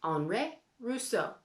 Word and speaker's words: Henri Rousseau: looking at today is named anre russo you have to say his name fancy like that because it's french because andre rousseau was from france he lived a long